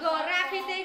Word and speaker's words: graffiti: Rồi, graffiti người ta gạch chân chữ G. Là đọc là G.